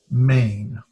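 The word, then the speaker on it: ἀμήν: This would be pronounced amen.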